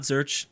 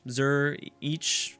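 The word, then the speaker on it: Zürich: not I I be I always pronounce zerch wrong it's not zurch Zur each I don't know but uh burn is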